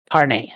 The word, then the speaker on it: Carnae: how do you pronounce the last name? Carne? Carney, yes.